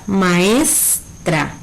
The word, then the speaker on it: maestra: En la palabra maestra, ¿sí?, tenemos por un lado ma, luego es y después tra, ¿sí? Donde ¿cuál es la sílaba tónica? ¿Sí? Sería es, que es la que se pronuncia con mayor intensidad, maestra.